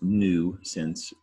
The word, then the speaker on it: nuisance: And it's pronounced nuisance.